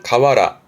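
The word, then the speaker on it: 河原: 그래서 발음이 지금은 가와라. 가와라. 발음 특이해요. 가와라. 그러면서 이제 강가의 모래밭이나 강가의 자갈밭을 가아와라. 가와라. 이런 케이스는 발음 좀 조심하시고요.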